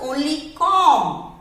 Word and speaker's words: comb: Here B is silent. So this is only comb, not comb.